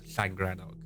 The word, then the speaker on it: Llangrannog: took me to what's commonly known as flagranoc and yes if you don't know that is how it's pronounced but to be more